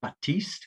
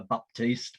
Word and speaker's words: Baptiste: And the lady is Mona Baptiste, or if you're from Trinidad, Baptiste, because the P is silent. Mona's family can't understand why we call her Baptiste, but there you go.